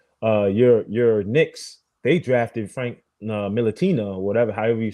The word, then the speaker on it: Ntilikina: Your Knicks, they drafted Frank Ntilikina or whatever, however you say his last name. He's so bad he can't even say his name. It's Ntilikina, but I understand.